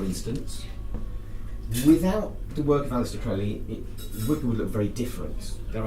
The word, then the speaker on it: Crowley: and have fun Aleister Crowley it's it's that's crazy to rhyme with holy not Crowley that rhymes with family so Alice as the